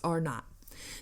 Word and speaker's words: R0: The measure scientists use to determine how easily a virus spread is known as basic reproduction number, or RO, or pronounced R not.